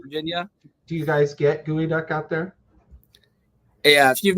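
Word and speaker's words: geoduck: by the way Geo gooey duck is spelled Geo duck yes it is spelled geod duck for some peculiar reason duck pronounced gooey I don't I don't know why so other than your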